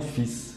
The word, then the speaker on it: fils: Y aquí es importante de no pronunciar la L. Se dice mon fils, no nada más la S al final. Mon fils.